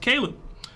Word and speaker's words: Caleb: It says, by the way, Seb, it's pronounced Caleb.